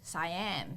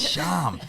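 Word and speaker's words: Syam: Or Dan would say Siam. Yeah, he does still call it, because his name is spelled S-Y-A-M. Siam. I'm like, no, dickhead, it's Sham.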